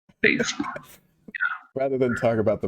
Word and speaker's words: Bezos: Actually, Jeff, is it Bezos? I don't know how his last name is pronounced. Bezos.